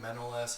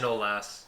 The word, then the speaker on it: Manolas: The Koulibaly, Manolas had a little bit of miscommunication.